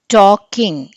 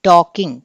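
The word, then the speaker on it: talking: టాకింగ్, ఎల్ వినిపించకూడదు మనకి, టాకింగ్ కాదు అది టాకింగ్ కదా. సో ఎల్ is silent here.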